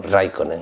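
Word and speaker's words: Räikkönen: Se pronuncia como Raikkonen o algo así.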